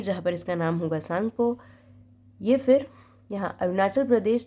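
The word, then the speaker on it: Tsangpo: सांगपो लिखा हुआ है सांगपो पर टी ए साइलेंट ठीक है इसको हम बोलेंगे सांगपो यह सांगपो एक्चुअली ब्रह्मपुत्र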